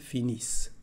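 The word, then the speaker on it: finissent: y c y el finish otra vez aquí como lo hemos dicho no se pronuncia ni la n ni la t final así que vamos a insistir en la s el finish y es todo hablamos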